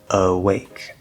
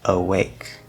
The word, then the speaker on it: awake: still and awake well the start of awake is a schwa sound spelled with an a but it's a schwa awake awake okay the end of still